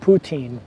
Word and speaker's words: poutine: about that poutine okay good I got it poutine so I won't look like a dumbass when